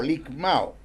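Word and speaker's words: λικμάω: Se escribe L-I-K-M-A-O, ligmao.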